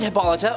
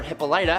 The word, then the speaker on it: Hippolyta: The goddesses appointed Hippolyta, or Hippolyta, however you want to pronounce it, to be queen, and